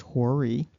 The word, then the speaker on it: Hori: Um, but there's another thing that stands out about the Horites, which is actually pronounced Hori.